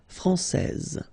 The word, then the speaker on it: française: so français, and then when you put this final E here, you will get française. Okay, so français, masculin, française.